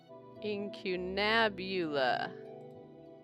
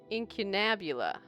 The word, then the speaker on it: incunabula: It is pronunciation. Incunabula. Incunabula.